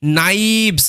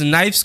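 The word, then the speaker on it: knives: কে লেটারটা এখানে silent N এর আগে শব্দের প্রথমে কে থাকলে কে সাইলেন্ট থাকে কে লেটারের উচ্চারণ হয়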